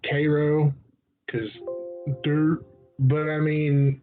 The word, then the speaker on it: Cairo: Cairo which is filled like Cairo but you pronounce Cairo cuz dirt but I mean it looks like